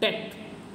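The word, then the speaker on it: debt: कजे में okay so इसे डेप्ट नहीं पढ़ते इसे क्या पढ़ते हैं हम डेट ओके इसे हम क्या पढ़ेंगे डेट डी टी ओके जो बी होता है व हमारा साइलेंट होता है तो इसे हम क्या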